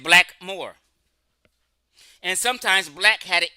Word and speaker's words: blackamoor: the word is saying no one pronounced it blackamore they just said black Moore and sometimes black had